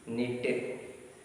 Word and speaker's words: knit: Now see here pronunciation. Pronunciation, even though K is in front of K is what is in the sentence, but we should not pronounce this. Knit, knob, known, knee, knot, knowledge, knife, no, knuckle. These are the words. K is silent here. K is silent. K is silent letter.